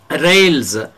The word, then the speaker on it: rails: Rails, S is pronounced as Z. Rails, see here, S is pronounced as Z.